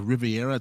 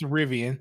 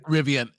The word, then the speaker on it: Rivian: They also showed some other demo with I think it's a Riviera truck or something like that. I might be saying the name wrong. Rivian. It's Rivian. Rivian.